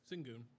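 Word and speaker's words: Şengün: Singon.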